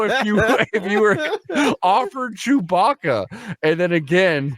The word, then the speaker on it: Chewbacca: you you were offered chewbaka and then again Bill Walton doubles down on his pronunciation he goes like chewy Baka the big the big hairy man like like he keeps calling him chewy Baka the only person to